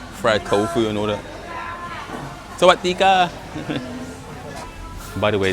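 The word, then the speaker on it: สวัสดีค่ะ: Sawadika. By the way, that's how you say hello and greet people here in Thailand. It's Sawadika. That's how you say it.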